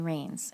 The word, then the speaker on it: Ranes: first two murders and your codefendant is Danny Reigns am I pronouncing that right yes you are I always